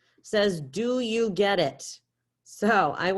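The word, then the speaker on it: sé: Say.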